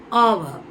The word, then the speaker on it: hour: அண்ட் ஆவர், ஆவர். இங்கே ஹெச், இது எல்லாத்துலேயுமே சைலண்ட். நம்ம ஹெச்சை இந்த வேர்ட்ஸில் ப்ரொனவுன்ஸ் பண்ணக்கூடாது.